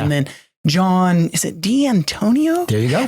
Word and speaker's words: D'Antonio: And then John, is it D'Antonio? There you go. Does he have a 5-syllable last name? Yeah, I was thinking about D'Antonio. Yes, five.